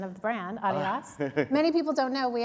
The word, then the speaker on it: Adidas: and Francois for your pronunciation of the brand, Adidas. Many people don't know, we actually started in a tiny, tiny little village in Germany, and the actual pronunciation of the brand is Adidas, which not a lot of Americans know.